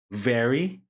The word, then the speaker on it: very: Very. So there should be a sound of V here, V, and then R.